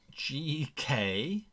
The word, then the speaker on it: Gekkota: Lara Liepton says the Geckota. Oh, how do you spell that? She or he or they spelt it Gekkota. Slower. Gekkota.